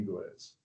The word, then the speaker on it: Gwizdz: The D is silent. It's just quiz. rhymes with quiz. Talking while teaching talking with Amy Giz, 28 years of teaching